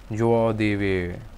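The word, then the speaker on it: joie de vivre: were pronounce something like joao devi oh god j is identical in the sound as in pleasure literally joy of we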